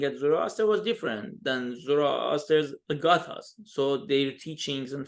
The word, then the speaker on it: Zoroaster: I use the Greek pronunciation of his name, so it's more universal. And when do you say Zarathustra, maybe someone says, oh, what do you mean? Who are you talking about? And actually, even Friedrich Nietzsche, in a German philosopher, he actually used the original pronunciation, Zarathustra, and in English even right, thus spoke Zarathustra.